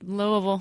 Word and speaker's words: Louisville: Louisville you're welcome because I said it right Louisville on Friday the 4th and Cincinnati on Saturday